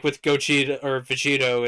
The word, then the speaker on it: Vegito: only the English name in Japanese it's vegera no it's not it's Vito pretty sure it is it's Vegito that's that's why it's Vegito because they took the to at the end of kakaroto which is the Japanese